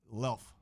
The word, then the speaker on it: Luelf: your last name o L like self oh why didn't you pronounce that in the email lelf that's it yes all right got